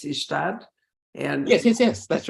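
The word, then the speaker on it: Ystad: down to visit that party I think it's ishtad and yes yes that's right I was so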